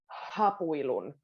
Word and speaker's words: hapuilun: Now, when a word starts with an H in Finnish, you can put a little emphasis on it. Hapuilun. But it's quite a soft, it's not too strong.